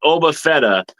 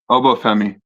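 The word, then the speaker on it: Oba Femi: Well, I'm behind the times, but Oba Fetta or how do you say it? I'm going to Obo Femi.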